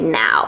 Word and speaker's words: Nao: characters is now because you spell it as n a o but when you pronounce it in English you actually say now that sounds like you know now so honestly when you